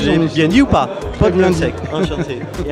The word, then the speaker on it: Podlunsek: Alors c'est Vincent Potlunsek, parce qu'il a peur que je prononce mal son nom. Merci, je l'ai bien dit ou pas? Potlunsek, enchanté.